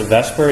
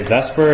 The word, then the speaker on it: VSEPR: this is called VSEPR people often pronounce the Vesper even though the S comes before the e which is always been